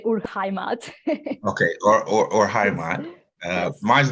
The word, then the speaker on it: Urheimat: My German is not great, but I would say Urheimat.